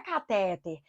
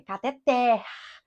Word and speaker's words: cateter: aqui eu não acentua o povo me pergunta é cateter se for cateter até tratarem se for cateter é uma paroxítona terminada em R E toda paroxítona terminada em R acentuada já verificaram-se essa palavra tem acento não tem viu gente então não é cateter é cateter oxítona por isso não recebe